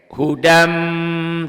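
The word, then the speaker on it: هُدًى مِنْ: Hudan tuh, nih dibacanya ke sini, n-nya melebur masuk ke m. Hudam tuh, ya bunyi n-nya berubah jadi m, melebur masuk.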